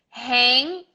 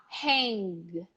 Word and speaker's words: hang: hang evening and kay now pay attention it's not Hank you are almost going to pronounce the G but you're gonna stop before it comes out your lips they go all the way to the G they close you say hey and then you stop there you don't let